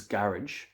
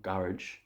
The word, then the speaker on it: garage: Okay, in the UK and Ireland, this is garage, or garage. In the United States, it's garage.